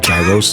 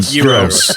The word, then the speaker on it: gyros: It's not gyros. It's like fucking gyros. Thank you. Gyros. Thank you. The fuck, I wanted to pronounce it phonetically as like gyros.